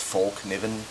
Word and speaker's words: Fallkniven: This is the Fallkniven, or I've heard it pronounced Falkniven. I don't think anybody knows how the hell to pronounce it properly.